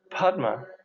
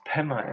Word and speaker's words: padma: noise also so padma padma the sanskrit term for lotus is pronounced pema in tibetan there are five buddha